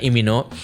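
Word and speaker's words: 이민호: Lee Min Ho ya, nyebutnya biar bener gitu pronunciation-nya kan, Lee Min Ho.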